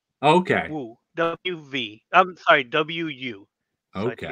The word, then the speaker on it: Wu: I'm sorry, W-U. So okay. It's just pronounced Wu.